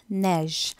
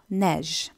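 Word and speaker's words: neige: Snow வந்து நீங்கள் ஃப்ரெஞ்சில் நெஜ், அந்த ஜி வந்து ஒரு சாஃப்ட் ஜி, ஸோ நெஜ்.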